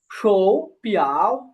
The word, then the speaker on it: 手表: এখানে এই যে দুইটা থার্ড টোন আছে, আমরা কি টোন সন্ধি শিখেছিলাম না, যে দুইটা থার্ড টোন একসাথে থাকলে প্রথমটা হয় রাইজিং টোনে উচ্চারণ হয় বা সেকেন্ড টোনে উচ্চারণ হয়। তো শোটা হবে যে সেকেন্ড টোনে শো শো পিয়াও শো পিয়াও।